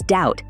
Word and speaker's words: doubt: it's easy to misspell doubt as doubt because the B isn't spoken another one is receipt